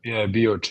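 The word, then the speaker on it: Bioča: Is Bioce, is that how you pronounce the city? Yeah, Bioce, yeah.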